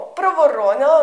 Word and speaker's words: проворонила: мовочки ворона проворона овороненя звертаю вашу увагу ворона наголос ставимо на друге о проворонила наголос на третє О а вороненя як цуценя котиня ставимо наголос в кінці тепер вивчаємо ворона проворонила